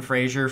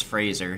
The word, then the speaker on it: Fraser: actor they better nominate Baden Frazier for the whale actually it's Fraser he admitted that's how you pronounce it Brendan Fraser should be getting in